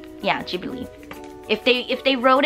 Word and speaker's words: Ghibli: studio ghibli because that's how in Japanese mind is spelled out with the G yeah G believe if they if they wrote it in Japanese